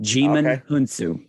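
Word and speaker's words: Djimon: D silent demon hunsu so you do not pronounce the d jimin okay he plays the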